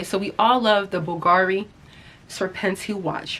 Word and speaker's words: Bulgari: Now, I just Googled the pronunciation of Bulgari. So, don't get up in the comments. Oh my god, you pronounced it wrong. Nope, I looked it up.